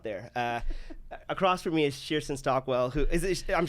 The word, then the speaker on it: Cherstyn Stockwell: Across from me is Cherstyn Stockwell, who is I'm saying it right? Cherstyn Stockwell. Cherstyn Stockwell.